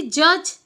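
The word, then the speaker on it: judge: एठी सेमती जज कोटा साइलेंट रहूची डी हैला।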